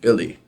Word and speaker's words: Belly: And then as soon as I hung up that phone, I'm like, Belly Bistro. Belly, it's actually pronounced Billy, is the nickname of my aunt.